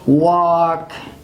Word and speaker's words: walk: care it is silent for example we have walk we have talk so walk talk this uh two words you see that it is used before uh cat and it is silent but there is an